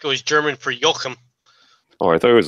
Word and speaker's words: Joaquim: Isn't it pronounced Joachim? Joachim? Is that it? No, it's like Joaquim. I don't know. He said it was like Joaquim Phoenix.